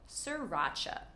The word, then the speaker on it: sriracha: If you like spicy food, you probably love sriracha. So don't worry about pronouncing that first R, just say sir, like hello sir, racha. Sriracha.